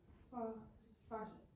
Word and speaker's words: faucet: AU says ah. So this is fa. And then how did you know that this C said s and not k? Because some E sometimes make the C say S. Yeah. E almost always makes the C say s. Okay? So that's our second syllable. Alright? So we have fa, set.